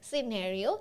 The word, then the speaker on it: scenario: over here the scenario actually the right pronunciation is scenario so the scenario over